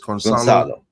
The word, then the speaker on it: Gonçalo: Madhouse is saying C is pronounced as an S in Portuguese, so it's Gonçalo.